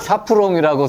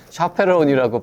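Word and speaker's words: chaperon: 그래서 저는 이제 불어식으로 샤프롱이라고 생각하고 있었고 선생님은 영어식으로 샤페론이라고 발음을 해서 네네네.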